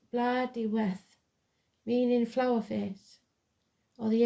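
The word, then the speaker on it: Blodeuwedd: 22 the owl is known as blood W pronounced blood we meaning flower face or the ancient word for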